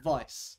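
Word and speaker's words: Weiss: people pronounce it like Vice because that's the it's a German word that's the proper way to pronounce it but I I always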